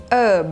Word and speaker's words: herb: h น ะ ค ะ เ ป็ น herb แ ล้ ว ก็ ต้ อ ง อ